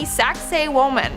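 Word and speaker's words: Sacsayhuamán: yet in our fourth spot we have the saxay woman and I know what it sounds like but that's how you pronounce it so just I know I know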